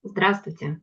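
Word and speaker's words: здравствуйте: Suena un poco diferente. Eh, decimos "drastvuyte".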